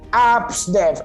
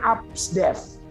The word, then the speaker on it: Absdev: Jadi Absdev, A sampai F itu bacanya Absdev. Absdev.